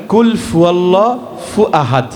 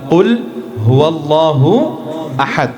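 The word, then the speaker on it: قل هو الله أحد: সাধারণ মানুষ যারা আছেন, তারা পড়েন কুল ফুয়াল্লাহু আহাদ। এটা হচ্ছে ওনাদের উচ্চারণ। আমরা যারা মাদ্রাসা পড়াশোনা করেছি বা পড়াশোনা করি, আমরা জানি এটা হবে কুল হুয়াল্লাহু আহাদ।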